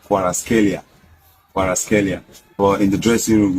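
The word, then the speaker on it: Kvaratskhelia: Normally the name is pronounced as Kwaraskelia.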